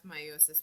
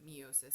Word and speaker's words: meiosis: Okay, so meiosis, which I pronounce meiosis, but some people pronounce it meiosis, either one is really correct, is the cell division that occurs to produce sex cells.